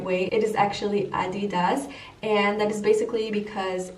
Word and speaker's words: adidas: and created adidas and fun fact we Americans pronounce it adidas which is it's not the right way it is actually Andy does and that is basically because Adolph had a